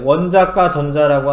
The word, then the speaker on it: 원자가 전자: 그래서 이제 요게 엄청 중요한 건데, 원자과 전자라고 하는 거는 이거를 가로 읽으셔야 돼. 읽을 때 원자가 전자라고 읽지 않고 이게 조사가 아니고요.